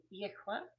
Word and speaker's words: Yahweh: Yehweh is the pronunciation that was given to me in a very supernatural way, and it was confirmed by uh, someone who I know that speaks several Semitic languages, and he said, yes, that is the true pronunciation of that name.